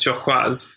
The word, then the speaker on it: turquoise: It would be pronounced originally as turquoise, which is in French.